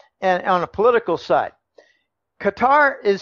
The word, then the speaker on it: Qatar: arab oil monarchy it's they pronounce their country cut qatar i pronounce it qatar forgive me I've just always called it qatar anyway the qatar ease